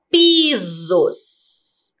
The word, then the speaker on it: pisos: Como que está o som do S agora? Com som de S ou com som de Z?